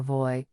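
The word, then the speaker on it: WUI: so-called Wildland Urban interface or voy pronounced wo e scientists now have the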